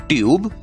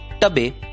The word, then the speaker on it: TUBE: आप सोच रहे होंगे हमने जो पद्धति सीखी है उससे तो BAKE का उच्चारण होगा बैके, TUBE का उच्चारण होगा टबे और BONE का उच्चारण होगा बोने। तो नहीं दोस्तों, इन शब्दों का उच्चारण होता है बेक, ट्यूब और बोन।